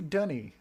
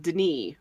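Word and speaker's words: D'ni: why do they say dunny why why do they say dunny when it's spelled like deny which is how I've said it forever even though it's very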